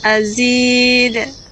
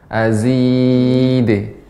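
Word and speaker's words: أَزِيدَ: Azid. Azid. Jangan ragu mengucapkan d-nya. Azid. Azid. Nah, seperti itu. Jadi kesalahan yang kurang tepat ketika membaca qalqalah, ada hamzah ketika membaca azid. Harusnya dibaca dengan pantul saja, memantul.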